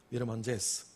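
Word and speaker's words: Mirëmëngjes: 미르만제스 알바니아에 이가 있고요. 거기에 땡땡 점이 두 개 있습니다. 이게 발음인데 미르에서는 거기에 생략이 되고 먼제스는 또 들어가요. 미르먼제스.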